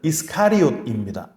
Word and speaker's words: 이스카리옷: 학자들 중에 가룟이라는 말이 캐리옷이라고 하는 유대 남부 지역에 있는 동네다라고 주장하는 분들이 있지만 가룟의 원래 발음은 이스카리옷입니다.